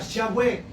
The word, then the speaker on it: Yahweh: sabe o desconoce que el nombre de Dios es uno solo y es YHWH, que los hombres le pusieron para poderlo pronunciar Yahweh.